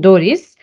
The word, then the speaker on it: DORIS: selection tool which we what we call for easier pronunciation Doris and this tool is